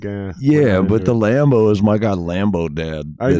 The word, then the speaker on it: Lambeau: Bank Stadium is not Lambeau. The Packers. Oh, I know what you're saying. Lambeau Field. Yeah. That's their rival. So, like, even though it's spelled differently, they're like, yeah, but the Lambo is my god Lambo dad.